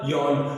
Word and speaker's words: yarn: Complete मिलके बन गया यार्न। और R यहाँ पर साइलेंट है, R की ध्वनि यहाँ पर, R का उच्चारण हम यहाँ पर नहीं करेंगे, तो ये क्या बन गया, यार्न।